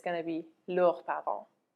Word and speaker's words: leurs: And then their parents, it's going to be leurs parents. There is an S which is added but which is not pronounced.